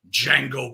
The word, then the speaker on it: Django: is of course the infamous D Jango kill if you live shoot at least that's how I always pronounce the title uh this is a